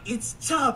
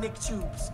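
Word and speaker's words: Chubb: chubs bro that that's how the name is pronounced c h u BB D flight it's chub I promise you it's chub it's not CHS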